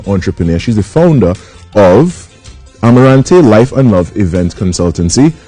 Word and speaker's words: Amarante: How the Amarante, am I pronouncing that right?